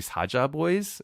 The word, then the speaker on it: Saja Boys: But it in Korean is actually Saja Boys. It's like a softer saja, which is the Korean word for lion, which is why why they have a lion.